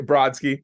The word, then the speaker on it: Brodsky: Okay, did I say it correctly? Oh, actually, Brodsky. Brodsky, there Brodsky. we Yeah, go. that's it. Brodsky, That's forgive it. me. Brodsky, okay?